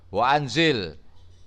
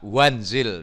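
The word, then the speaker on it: وأنزل: tengah-tengah ini diucapkan dan ditulis wa anzil diucapkan dan ditulis tidak boleh dibaca wenzel tidak boleh Hai Hamzah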